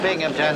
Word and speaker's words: Binghamton: That's a Binghamton. There's no P in that. The accent is on the Bing.